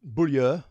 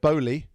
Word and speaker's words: Beaulieu: The Beaulieu, some people call it Beaulieu. That's the English pronunciation. The French, I think, say Beaulieu. Beaulieu. I've heard people call it Beaulieu. That's a kind of a halfway halfway there.